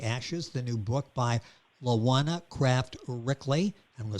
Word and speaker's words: LaJuana Craft Ryckeley: rising under the ashes the new book by lawana kraft rickley i'm gonna spell that for you that's l-a-j-u-a-n-a kraft c r